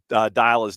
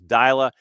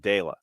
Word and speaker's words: Dyla: I need to know the right way to pronounce Dyla's name. Team published it phonetically as Dyla. Chris Henderson, Conti, and Jason have all said Dayla. I think it's Dyla.